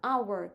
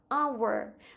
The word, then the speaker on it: hour: An hour. Слово година our починається на приголосно, але ми його не вимовляємо. Ось це H. І починаємо вимову з голосного звуку. our.